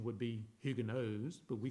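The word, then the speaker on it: Huguenots: hugonotes the French hugonotes and if the correct pronunciation would be hugos but we call them hugonotes they were Protestant God-fearing Christians basically in France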